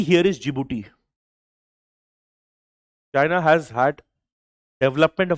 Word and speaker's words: Djibouti: The countries are Somalia, Ethiopia, Djibouti. Although the name starts with a D, D is silent here. Djibouti and Eritria.